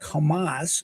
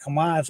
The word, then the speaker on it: Hamas: But it is pronounced like Hamas in English, also the name of the Palestine terror organization.